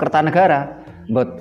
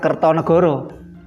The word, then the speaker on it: Kertanegara: sehingga pembacaan sastra Jawa sebagai contoh Kertanegara raja Singhasari ini membacanya tetap Kertanegara bukan kertonegoro Raja Majapahit yang terkenal